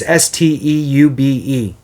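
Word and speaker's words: Steube: St I no know of uh Sarasota it's stube um the US Army veteran has grilled the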